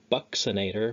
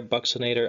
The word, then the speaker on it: buccinator: Last on here, we have a buccinator, weird pronunciation. You might remember in chapter one, buccal region is the cheek area. So there's your BUC for your cheek, except it's pronounced differently here.